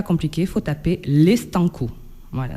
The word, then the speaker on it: Stanko: Il faut taper les Stanco. Voilà, c'est les Stanco, c'est S-T-A-N-K-O. Comme ça se prononce.